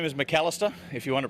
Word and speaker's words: Macalister: as he calls it yeah the name is McAlister if you want to pronounce it mark Alister but to make a name for himself in any future Parliament mr.